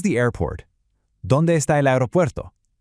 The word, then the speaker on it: aeropuerto: ¿Dónde está el aeropuerto? Listen for that soft roll right in the middle of that last word.